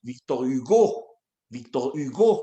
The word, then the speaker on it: Victor Hugo: En francés se pronuncia Victor Hugo, como si tuviera tilde en la O.